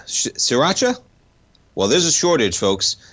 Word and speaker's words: sriracha: man uh sriracha right is that how you pronounce it shiracha sriracha well there's a shortage folks and they've been